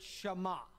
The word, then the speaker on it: Shema: in the hebrew that word is the word shama it very easy to uh pronounce it's s uh h e m a